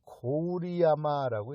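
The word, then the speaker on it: 郡山: 나라역 바로 직전역이 뭐냐면 한자로 우리 전라도에 있는 군산이라고 써놓고 어떻게 읽냐면은 고우리야마라고 읽습니다. 고우리야마. 그러니까 고을이란 뜻이에요. 군은 고을이란 뜻이에요. 산은 몇 산자고. 그래서 고우리야마, 그걸 한국에서는 군산이라고 읽지만 일본에서는 고우리야마라고 있습니다.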